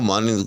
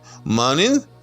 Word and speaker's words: مانند: وزن پہ نہیں ہے۔ عام طور پر اس کو احباب جو ہیں وہ مانند کو فعلن کے وزن پر باندھ دیتے ہیں۔ اب آپ دیکھیں نا، ذرا جلدی اس کو پڑھ کر دیکھیں، مانند، فعلن، بظاہر برابر محسوس ہو رہا ہے، لیکن یاد رکھیے گا کہ اگر ہم ایسے کریں گے تو پھر ہم دوسرے نون کا کیا کریں گے؟